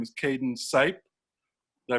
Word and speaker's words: Caden Sipe: out of uh cersei arkansas his name is cayden sipe did i pronounce that correctly yes sir i'm sorry i